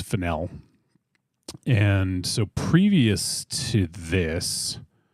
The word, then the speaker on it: Fennell: name in the past I would call her fennel like the spice or the Herb I guess but um it's fenel and so previous to